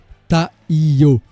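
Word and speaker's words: 太陽: apparaît au chapitre 314 qui peut être prononcé en japonais taïo et signifie soleil qui comme par hasard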